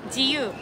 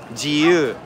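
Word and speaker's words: 自由: Jiyu. Jiyu.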